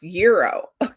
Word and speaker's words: gyro: Oh, it's pronounced gyro.